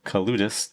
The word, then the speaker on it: Kaloudis: I'm here with Kaloudis. Did I pronounce that correctly?